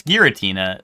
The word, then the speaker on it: Giratina: Oh, Giratina versus Giratina? It's Giratina. I don't even know how you pronounce it the other way and think you're a sane person.